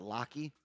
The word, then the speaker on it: Locke: Locke, I'm assuming it's Locke, L-O-C-K-E, not Lockie. Loke? It's probably silent. Yeah, probably silent. Silent E.